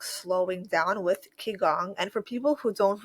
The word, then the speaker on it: Qigong: using Q and I, and so it's often pronounced Qigong, but they mean it to pronounce Qigong, kind of like Qi.